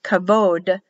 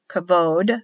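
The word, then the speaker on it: כבוד: kabode glory or honor it'll be pronounced kavod kavod but written bowed k a b but pronounced as a v kavod o because now the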